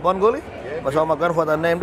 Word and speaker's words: Bungoolee: It's pronounced as Bungoolee. Bungoolee.